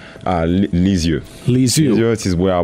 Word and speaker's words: Lisieux: Let me say if I pronounce this correctly. Lusseau? Lisieux.